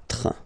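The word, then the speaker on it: quatre: 4. Okay? So remember that even if you get this U vowel here, basically you don't pronounce it, because that's the rule in French.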